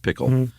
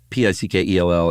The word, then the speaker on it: Pickell: I don't think it's pronounced Pickle. Pickell.